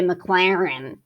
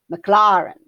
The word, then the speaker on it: Maclaurin: to say it right we usually just say mclaren you know but it's mclaren however that is supposed to sound anyway you are expected to know that when they use the phrase mclaren series they are meaning